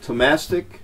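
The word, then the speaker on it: Thomastik: These are Tomastic Spiracore Weich, W-E-I-C-H. That's how you pronounce it, Tomastic.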